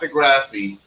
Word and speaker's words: deGrasse: Neil deGrasse Tyson, not deGrasse, deGrasse. Yes. The E is silent because there's an E by there, but the two S's and an E. deGrasse.